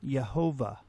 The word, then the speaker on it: Yehovah: If we attempt to pronounce God's divine name as it is written with the vowels that are included, we get the name Yehovah.